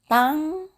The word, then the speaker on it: tanghali: So you say magandang, the same, magandang tanghali. Tanghali. In Italian, there's no H sound, so they're gonna have a hard time to pronounce this, the ha. Ha.